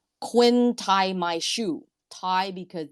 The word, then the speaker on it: Quyen: And if you look at my name, the letter was actually Quinn. So it's spelled Quyen.